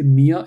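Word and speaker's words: mir: to learn it properly whenever R is the end of a word you don't emphasize it you know you just say Mia and Dia so even though it is R when you pronounce it should like d i a Dia m i a Mia okay I a okay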